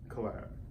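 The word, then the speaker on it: Cylab: this one however is spelled slightly different but pronounced the same and it's c-y-l-a-b collab and essentially this is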